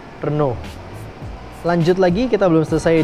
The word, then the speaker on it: Renault: Jadi, cara baca itu Renault, bukan Renault, guys. Kalau di sini kita banyak kan ngomongnya Renault atau Renault. Tapi yang benar sebenarnya adalah Renault.